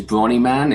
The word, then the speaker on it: Bronniman: my second name is Bronniman. It's B-R-O-N-N-I-M-A-N, Bronniman.